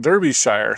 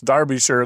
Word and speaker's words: Derbyshire: Now, it looks like Derbyshire to us Americans, but it's Derbyshire.